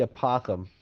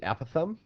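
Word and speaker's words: apothem: I call it the apothegm because it sounds like an opossum, but a lot of people call it the apothegm. It can be pronounced either way.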